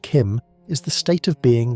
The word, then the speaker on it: CHIM: CHIM, pronounced Kim, is the state of